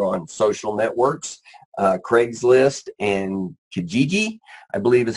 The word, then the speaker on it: Kijiji: Craigslist and Kijiji, I believe is how you pronounce that, which is the Canadian equivalent from what Jeff tells me of Craigslist.